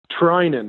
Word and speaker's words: Threinen: And how do you say your last name? Is it Threinen or Threinen? Threinen. The H is silent.